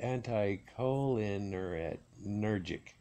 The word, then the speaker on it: anticholinergic: I can't even pronounce that. Anticholinergic.